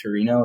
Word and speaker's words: Torino: alternate in 2006 Olympics at uh is it Torino is that how you say it yeah uh